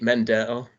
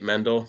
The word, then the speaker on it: Mendel: mispronouncing names so uh I think Nate Mendel I said rather than just Nate mendle so uh Nate if